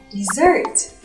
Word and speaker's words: dessert: Từ món tráng miệng làm chúng ta rớt nước dãi nên sẽ đọc là dessert, ok?